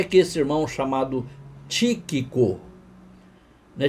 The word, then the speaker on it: Tíquico: ou pouquinho, só um tiquico de nada. Não era Tiquico, era Tíquico. Olha aí onde está o acento agudo, na primeira sílaba. Então é Tíquico.